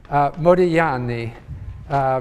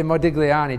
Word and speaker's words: Modigliani: to pronounce his name Modigliani because in Italian you don't pronounce the G although I tend to say Modigliani just to be understood